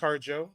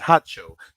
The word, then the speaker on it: Harjo: this man Chito hacho it's not pronounced harjo the correct pronunciation is hatcho Chito hacho Chito hacho is a